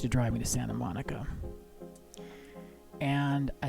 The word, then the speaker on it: Monica: and I said oh that's an interesting name Monique and she said actually no the way that it's spelled out it's supposed to be Monica she gave me her